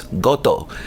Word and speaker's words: Gotoh: the early 60s and that's Gotoh and I say it like that because they're a Japanese company and they make a